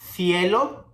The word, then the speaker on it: cielo: For the combination of C, E, or C, I, we are going to pronounce it like th. Ce, ci, ce, ci. Cielo, cesta, cisne.